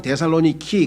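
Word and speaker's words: Θεσσαλονίκη: 그러니까 그때 한창 데살로니키, 아마 그 그리스어로 발음을 하다 보니까 우리는 데살로니카인데 그 사람들은 데살로니키 이렇게 돼 있죠.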